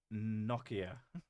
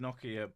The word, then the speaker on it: Nokia: In English, it is pronounced Nokia. In English, it's pronounced Nokia. And I think it's pronounced Nokia by the people who fucking invented the word as well.